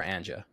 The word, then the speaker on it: Anja: So at what point, just from a business model standpoint, the thing that Anja's, and am I pronounced, is it Anja or Anja?